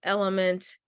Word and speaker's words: LMNT: They love Element. LMNT is how it's spelled out.